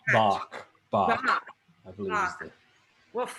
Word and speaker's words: Bach: Batch. Batch? Batch is sick. Bach. Bach. I believe is the pronunciation.